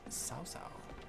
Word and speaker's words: Cao Cao: And Cao Cao is pronounced Sao Sao.